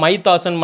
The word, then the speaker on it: Mythos: ஆக்சுவலாக இந்த மைத்தாஸ்ன்ற பேரே டிஃப்ரெண்ட்லாம் ப்ரொனவுன்ஸ் பண்ணுறாங்க. நிறைய பேர் பார்த்தோன்னா மைத்தாஸ்ன்னு பண்ணுறாங்க, சில பேர் மித்தாஸ்ன்னு பண்ணுறாங்க. ஸோ அதை ப்ரொனவுன்ஸ் பண்ணுறதுலேயே ஒரு பிரச்சனை போயிட்டுருக்கு.